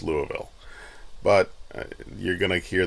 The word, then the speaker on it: Louisville: Uh several times in this video I um call uh Louisville Lewisville.